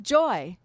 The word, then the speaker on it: Joeaux: much, I called myself Joy. And it was true. It's actually kind of an interesting story because before I was Joy, that's spelled Joeaux, I was.